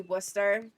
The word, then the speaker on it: Worcester: Worcester, yeah, it's spelt Worcester, but it's actually Worcester.